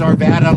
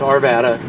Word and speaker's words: Arvada: correctly it was yes it's Arvada like like Nevada like the state of Nevada so it's Arvada um it was formed